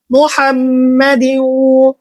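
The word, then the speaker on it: محمد: আল্লাহুম্মা সাল্লি সাল্লি আলা মুহাম্মাদি মুহাম্মাদি মোহাম্মদ অনেকজন বলে থাকি মুহাম্মাদ উচ্চারণ করতে হবে।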